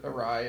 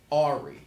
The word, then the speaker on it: awry: that like the word awry like obsessed yeah it should be awesome we had a whole episode on it you did a um whole should be white it's spelled a-w-r-y which should be ahri uh-huh why is that